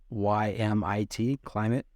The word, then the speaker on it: Klymit: I think it's pronounced Climate. It's Klymit, Climate, and it's an inflatable.